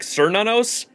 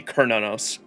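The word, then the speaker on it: Cernunnos: And you would want to say like cernos, but it's spelled uh almost like a it's pronounced with a K. Kernanos.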